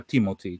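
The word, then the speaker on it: Timothée: lui comunque lo pronuncia Timothy cioè pronuncia la doppia e alla fine come la i Cioè quindi è letteralmente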